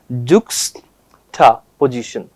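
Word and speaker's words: juxtaposition: इसका प्रोनाउंसिएशन अगर हम लोग देखें, जुक्स्टा पोजीशन, तो क्या बोलेंगे इसको, जुक्स्टा पोजीशन। वापस बोले जुक्स्टा पोजीशन।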